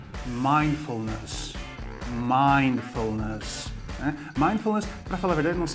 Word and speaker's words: mindfulness: Primeiro, ó, você vai falar mind, mind. E esse D é mudo. Os brasileiros às vezes falam mind, tá? Então, mind. Depois, full, com L, né? Mindfulness. Cuidado aqui para não falar ness, né? Mindfulness, é mindfulness. Legal?